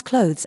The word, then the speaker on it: clothes: A quick pronunciation hack: you can pronounce clothes as close to make it flow better.